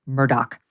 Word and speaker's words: Murdaugh: it's very confusing because it's spelled m-u-r-d-a-u-g-h but apparently it's pronounced Murdoch um here they are listen to the Cavalier nature of uh Murdoch in this soundbite 19.